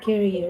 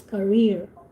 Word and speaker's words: career: uh this car carrier you always said carrier it's not carrier it's career when you talk about